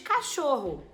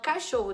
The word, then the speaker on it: cachorro: tem quatro fonemas também diferente por exemplo de cachorro cachorro tem c a c h o r r o Então já perdi a conta deu oito deu cachor é deu oito oito letras mas eu não vou ter oito fonemas por qu o ch juntos